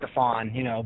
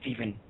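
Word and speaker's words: Stevan: I'm sorry, I've been saying his name wrong. I apologize. It's Stephon, but to me, he's always going to be Stephen Ridley.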